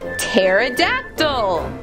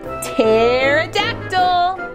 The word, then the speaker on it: pterodactyl: word we can spell p t e r o d a c t y l what is that spell I've never seen that word before well the p is silent it actually spells pterodactyl oh I have a